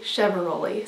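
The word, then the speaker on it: Chiavaroli: It is Heidi Chevaroli.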